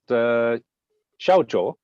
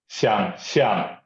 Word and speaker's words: 想象: Wayne, for my ongoing Chinese study, is this pronounced xiaozhou? 想象. Oh, completely different. Can you say one more time? 想象.